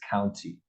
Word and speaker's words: county: A lot of times the T in some parts of the United States won't have a strong intonation. Does that make sense? Mm-hmm. How it should. Now, it should, the proper way to say it is county.